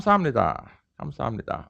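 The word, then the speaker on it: 습니다: your order they come samnita okay uh so that's what i wrote here is uh it's written it's pronounced this way but if you write it this way people are gonna laugh at you you know you pabo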